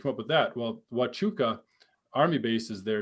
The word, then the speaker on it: Huachuca: up with that well watchuka army base is there it's a fort fort huachuca is there and it's spelled hua hua huachuca but it's pronounced wachuka and so i did